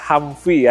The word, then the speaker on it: Humvee: Nah, secara tulisannya teman-teman kurang lebih kayak Humvee ya dibacanya ya.